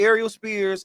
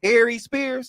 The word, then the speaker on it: Aries Spears: Well, basically Ariel Spears and Ariel Spears. I don't know why I want to say his name. Aries Spears.